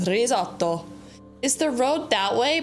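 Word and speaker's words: risotto: Or if you're American, you say risoto, but in Italian, it's pronounced rizoto.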